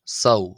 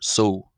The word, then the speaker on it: ⲥⲟⲟⲩ: Coptic uh number six which is pronounced so or so so uh so as I've